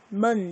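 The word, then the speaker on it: 门: 자, 그 다음 en 어떻게 읽는다? 언이라고 읽었어요. 은인데 빨리 하니까 언 이렇게 들린다라고 했었죠. 그러면 m은 미음, 얘는 언 붙이면 먼 되겠네요. 자, 이성의 소리로 한번 가봅시다. 먼.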